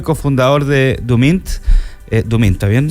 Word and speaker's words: Duemint: con Félix said seo y cofundador de dumin dumin está bien pronunciado Sí ya perfecto dumin eh por este